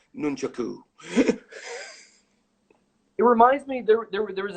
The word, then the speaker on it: nunchaku: they're called shuriken not throwing stars and it's pronounced nunchaku it reminds me there was a VHS back